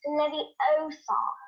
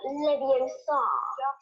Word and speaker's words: Leviosa: You're saying it wrong. It's Leviosa, not Leviosa. So while she may temporarily